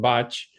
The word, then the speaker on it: Bach: I think for the pronunciation you're using botch for some reason in in it's always people have always said Bach, but actually you're correct. It is botch.